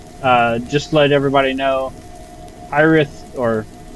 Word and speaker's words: Hiraeth: Just to let everybody know, Hiraeth, or Hiraeth as it's pronounced, has moved to a different engine, which caused a lot of setbacks.